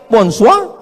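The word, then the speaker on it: bonsoir: Bacanya bonjou. Bon soir, bonsoa.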